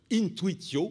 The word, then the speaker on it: intuitio: Alors, donc, vous connaissez la prononciation restituée, n'est-ce pas, de intuitio, qui est intuitio, en fait.